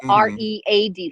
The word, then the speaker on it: Read: No, it's R-E-A-D, like read a book.